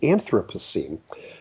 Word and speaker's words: Anthropocene: a new geological age that is called the Anthropocene and some people might pronounce it as the Anthropocene and what that word means when you break